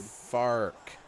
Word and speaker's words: Fark: Fark. Art. It rhymes with arc.